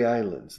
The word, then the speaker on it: islands: The Canary Islands, the Canary Islands. La S es muda, claro, en island, con S, pero S al final.